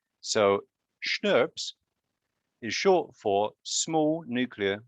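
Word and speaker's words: snRNPs: Right, and these are called SNRPs. So I don't know if any of you ever had Schnapps, which is a German liqueur, but you pronounce it kind of the same, SNRPs.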